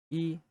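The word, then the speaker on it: 一: In Mandarin, it's yi, and then in Cantonese, it's pronounced yut.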